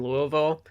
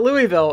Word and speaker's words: Louisville: Cuz if you're watching this and you don't know because people that aren't like from around the surrounding areas it is not Louisville. It is Louisville.